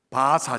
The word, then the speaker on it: 바사: 뒤집어 놓으시죠 바벨론에서 어떻게요 바사 제국으로 바사는 페르시아의 한자어예요 똑같은 거예요 원래는 파사인데 이렇게 발음으로 해서 우리나라 말로 페르시아를 얘기하는 거예요 바벨론 제국에서 페르시아 제국으로